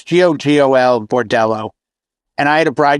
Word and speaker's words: Gogol Bordello: You know, you heard of Gogol Bordello?